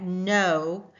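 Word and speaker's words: know: So if we look at no, we don't hear the C sound, do we? We just hear the N sound.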